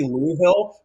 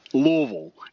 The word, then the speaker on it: Louisville: All you got to do is imagine your mouth full of marbles, Louisville. And Louisville. Then if you pronounce all the syllables, you're doing it wrong.